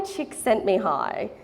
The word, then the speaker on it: Csikszentmihalyi: His name is Mihai Csikszentmihalyi, and he's considered the founder of the flow theory.